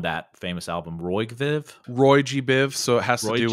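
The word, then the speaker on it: Roygbiv: here in a minute and how do you pronounce that probably their most famous piece from that famous album roy viv roy g biv so it has to do with the colors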